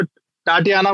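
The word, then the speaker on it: Tatiana: हाँ, तांत्या, तांत्या, मैं इसको टाटियाना बोलता हूँ, टाटियाना। ठीक है, क्योंकि जब मैं इससे मिला था तो उन्होंने भी मुझे यही प्रोनाउंसिएट करने के लिए बोला था, आप इनको टाटियाना कह सकते हैं सर।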